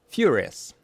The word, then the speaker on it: furious: Furious, furious, furious, furious, furious. Первый слог под ударением.